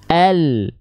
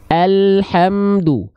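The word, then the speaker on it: الحمد: nih oke langit-langit depan sehingga ketika kita lafalkan pelafalannya seperti ini Al Al hamdu Al alhamdu bedakan dengan yang tadi Al alhamdu alhamdu bedakan dengan yang tadi kalau tadi Al ya kalau yang yang barusan kita lafalkan al al al al al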